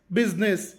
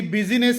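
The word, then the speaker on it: business: silent ಶಬ್ದವಿಲ್ಲದ ಐ ಅಕ್ಷರ ಇಂಗ್ಲಿಷ್ನ ಕೆಲವು ನಿರ್ದಿಷ್ಟ ಪದಗಳಲ್ಲಿ ಐ ಅಕ್ಷರವು ಕೇವಲ ಬರವಣಿಗೆಯಲ್ಲಿಷ್ಟೇ ಇರುತ್ತದೆ ಉಚ್ಚಾರಣೆ ಮಾಡುವಾಗ ಅದರ ಶಬ್ದ ಪೂರ್ತಿಯಾಗಿ ಲೋಪವಾಗುತ್ತದೆ ಸೈಲೆಂಟ್ ಉದಾಹರಣೆಗೆ ಬಿ ಯುಎಸ್ ಐಎನ್ಇ double S ಬಿಸಿನೆಸ್ ಇಲ್ಲಿ ಬಿಜಿನೆಸ್ ಎನ್ನಬಾರದು ಐ ಶಬ್ದ ಸೈಲೆಂಟ್ ಆಗಿರುತ್ತದೆ ಎಸ್ ಯುಐಟಿ ಸೂಟ್ ಇಲ್ಲಿ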